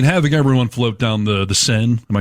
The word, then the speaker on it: Seine: I mean, having everyone float down the Seine, am I saying it right?